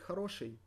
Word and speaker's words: Хороший: So we need to take хороший, because it is the masculine adjective. Хороший. Хороший. Хороший. With the emphasis on the second O, so we pronounce the first one as A.